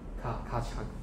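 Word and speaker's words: Keccak: 卡恰，这个专业念法。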